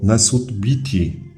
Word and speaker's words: Nesut Biti: W uproszczeniu jednak te hieroglify tłumaczymy po prostu jako król Górnego i Dolnego Egiptu, wymawiając je jako Nesut Biti.